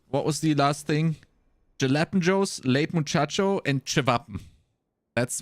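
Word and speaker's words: jalapeños: for for for uh what do you mean Hall AOS no it's jalapenos it's also a lot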